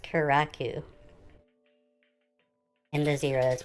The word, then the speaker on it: Kurraku: if you're here now you know it is pronounced keraku and the zero is pronounced zero obviously karakuzeera